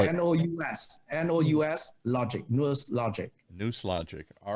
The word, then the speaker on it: NousLogic: And spell it. N-O-U-S, logic, NousLogic.